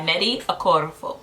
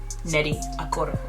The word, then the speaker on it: Nnedi Okorafor: All right, so the book that I read, or actually I listened to, is Akata Witch by Nnedi Okorafor.